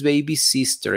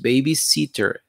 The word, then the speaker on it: baby sitter: lo ponen baby sister no no es baby sister es baby sitter listen otra vez el